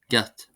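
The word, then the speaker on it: gcat: The letter C this becomes GC and is pronounced as a G. So as a G sound. For example the word cat. Cat meaning cat becomes g. G. Gat.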